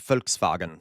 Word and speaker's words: Volkswagen: That's why it's Volkswagen, okay? Volkswagen. And then, so this, okay, real fast. In German, like I said, V's are pronounced like F and W's are pronounced like V's.